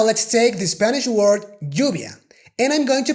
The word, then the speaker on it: lluvia: And if you ask me, I would say that if you want to pronounce the Spanish Y, you should pronounce that with the J sound rather than the English Y.